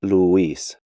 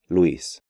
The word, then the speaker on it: Luis: And for the last time in this lesson, I'll say that English speakers have the tendency to break these diphthongs up, pronouncing them like ciudad, diurno, ruido, arruinado, and Luis, when they should be pronounced more like ciudad, diurno, ruido, arruinado, and Luis.